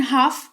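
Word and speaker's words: half: फिलहाल जान लो कि एच ए एल एफ लिखा हुआ है लेकिन हाफ इसको पढ़ेंगे एल का उच्चारण नहीं करते हैं और इसका मतलब होता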